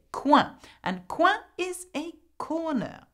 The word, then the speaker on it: coin: The next one is not pronounced coin. In French, we say coin.